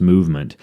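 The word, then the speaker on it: MVMT: a company called movement it's spelled MV MT but pronounced movement and what they do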